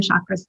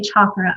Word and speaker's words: chakra: are only going to be dealing with southern chakras today however there are a total of 88